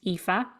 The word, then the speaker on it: Aoife: how to pronounce it it's spelled aoi f and it's pronounced epha and my full name is epha so a o